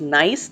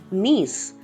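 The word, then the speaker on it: niece: नीस, this is not pronounced as नाइस, this is pronounced as नीस.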